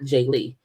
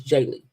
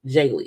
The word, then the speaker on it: Jaylee: I'm like, because my name is not Jaylee, it's Jaylee. Okay, like daily is Jaylee.